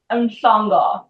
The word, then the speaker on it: Mhlongo: My friend Malongo Did I say your last name right? You tried, it's okay. Oh, how do you say it? Malongo.